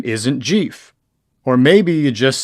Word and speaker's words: Jeff: people you may know but they get your name wrong. They walk up to you and they say, "Hi Jeff, your name isn't Jeff.